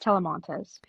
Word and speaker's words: Talamantez: It's pronounced Telemontes. Talamontes, see it looks harder than it actually is and I sometimes I'll say it and I will fail miserably.